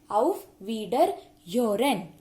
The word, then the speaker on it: Auf Wiederhören: Please note the difference and also the pronunciations. It's Auf Wiedersehen and Auf Wiederhören.